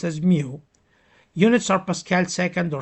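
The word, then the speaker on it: μ: Um, it's mu, pronounced as mu.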